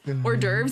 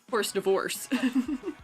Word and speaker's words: hors d'oeuvres: That gives them a funny story they can tell later down the line when they learn that hors d'oeuvres is pronounced not as horse divorce.